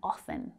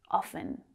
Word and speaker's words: often: 8 am ah i'm often a little late notice that i didn't pronounce the t in often often it's silent though not for every native english speaker but i don't pronounce it often sometimes i go for